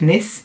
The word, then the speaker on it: Nice: biscuits are not actually they wouldn't be pronounced that way i guess because they're named after the french city of nis which why if you